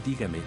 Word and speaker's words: dígame: el acento por ejemplo en la palabra dígame la sílaba tónica es la primera por lo que se